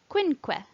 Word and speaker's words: quinque: Q is always followed by a U and makes the sound qua, quinque.